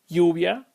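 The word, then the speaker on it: lluvia: also from Uruguay and you will most likely hear me pronounce my y's as a sh sound as that is part of how the Y is pronounced in Uruguay so let's take a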